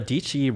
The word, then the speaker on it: Dietschy: And Miss Sara Dietschy, rhymes with peachy.